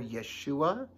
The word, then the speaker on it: Yeshua: know what the name jesus or yeshua as is pronounced in hebrew means no jesus or